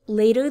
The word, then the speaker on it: late: there late this evening you don't hear that strong t at the end i keep it in